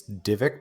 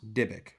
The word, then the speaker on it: Dybbuk: This Divik box? Dybbuk. How do you spell that?